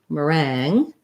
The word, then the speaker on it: meringue: uh so timbre good and then for meringue meringue um we have an er vowel unstressed and then rang is um just like rang like i rang the bell again another a vowel